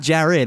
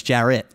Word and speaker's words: Jarrett: are you kidding me it's not Jared it's Jarett yeah are you kidding